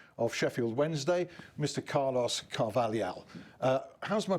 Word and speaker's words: Carvalhal: is not bad, because this kind of word like Carvalhal, is just in Portuguese. We have this Lhal. Yeah. And it's very difficult.